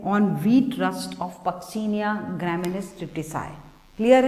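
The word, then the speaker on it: Puccinia: rust caused by पक्सीनिया, कुछ लोग इसको पुसीनिया बोलते हैं, आप लोग स्पेलिंग सही लिखिए, इट्स पक्सीनिया ग्रामिनिस ट्रिटिसाई, ग्रामिनिस ट्रिटिसाई,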